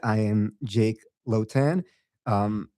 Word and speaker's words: Lhotan: As Elena said, I am Jake Lotan. Um, my surname is usually difficult to pronounce, so I always tell people I have a low tan.